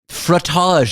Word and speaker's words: frottage: Frottage, frottage. Frottage. It rhymes with fromage.